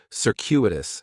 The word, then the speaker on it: circuitous: The stress is going to be on that second syllable, and that CU is kind of like you're saying the letter Q, circuitous, circuitous.